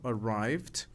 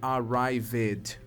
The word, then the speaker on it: arrived: E aí notem, o verbo arrive, chegar, está sendo usado aqui no passado, arrived. Nota que a pronúncia é como se sobrasse um Dzinho no final, né?